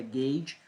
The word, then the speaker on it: gauge: Gauge, American Wire Gauge, estava tentando lembrar da pronúncia disso aqui, é Gauge, American Wire Gauge e milímetros quadrados.